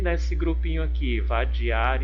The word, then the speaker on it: vadiar: E nesse grupinho aqui, vadiar e cesar, por que não estão formando rimas? Vamos analisar novamente, ó. Vadiar, vadiar. Olha, aqui eu tenho uma oxítona.